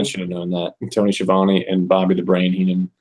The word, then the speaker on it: Schiavone: Tony Schiavone and Bobby the Brain Heenan.